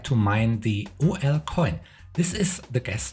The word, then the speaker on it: 0L: Most people pronounce that OL.